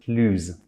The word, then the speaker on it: plus: the vowel or silent H, and it becomes plus.